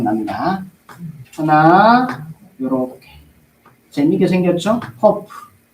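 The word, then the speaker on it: ק: 커프 커프 커프 커프 커프고 코프고 우리 우리 발음으로 키우기고 영어에는 큐 커프 커프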